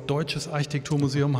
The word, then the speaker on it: Deutsches Architekturmuseum: lief im deutschen Architekturmuseum Betonung liegt auf deutsches Architekturmuseum hast du vorhin gesagt